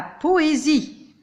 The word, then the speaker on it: poésie: Comme dans la poésie. S, je le prononce comme Z.